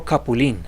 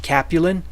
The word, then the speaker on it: Capulin: one is called several capilene and you'll often hear it mispronounces Capulin but capilene means chokecherry it's derived from Aztec